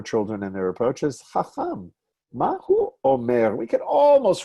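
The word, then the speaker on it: חָכָם: Fez, we'll still say Chacham. And stress on the second syllable, even though this one does have a double vowel. Double kamatz usually does not give me stress on the first syllable.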